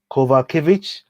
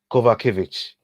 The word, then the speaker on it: Kowalkiewicz: Kowalkiewicz. Did I say that right? Kowalkiewicz.